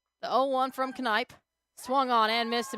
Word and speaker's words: Knipe: The name is pronounced Knipe.